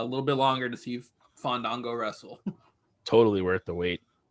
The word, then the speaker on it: Fandango: Next up, we are teased with the debut of Fandango. Better say it right, Justin Roberts, or he will not wrestle. And feel it and let the A's breathe.